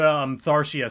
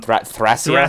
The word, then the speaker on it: Thracia: I was all the way back with Tharsia 776. Sorry, I pronounced that weird, but Thracia.